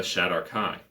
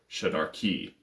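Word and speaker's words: Shadar-kai: the sea elf and the shadarkai or shadarki depend on how you pronounce it so the l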